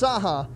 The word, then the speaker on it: Cahak: across this country because it's pronounced saha but it's spelled c-a-h-a-k right so it looks more